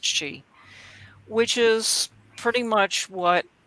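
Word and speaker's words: sith: one called the cat she it's spelled s-i-t-h but it's pronounced she which is pretty much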